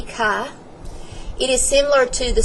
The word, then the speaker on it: chi: I say Kai squared some students say chai but it's supposed to be Kai it is similar to